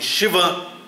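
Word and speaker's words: Schwann: palavras que eu olhei, porque Shivan, se você escreve, e se você pega uma pronúncia inglesa, não fica Shivan de jeito nenhum. Eu vi uma professora falando Shivan e achei super estranho, falei, Shivan, Shivan, achei até engraçado, né? Aí fui olhar e a pronúncia é Shivan mesmo.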